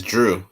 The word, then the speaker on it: Jrue: It's Drew. Like it's like DREW, but it's spelled JRUE. Okay, so it is the D sound with that Drew.